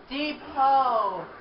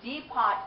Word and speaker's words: depot: they left the deot depot take speech or fall back they did we take the deot I think we did the it's not the deot it's Depot you can never respect